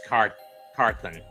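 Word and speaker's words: Carthon: Maurice Carthan in 86. Or Carton, or however you pronounce it. And he was also there again in 90. It was Maurice Carthen.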